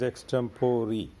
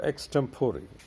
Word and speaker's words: extempore: mispronounced extempore it is extemporary the e at the end is pronounced e not a so extemporary means you are given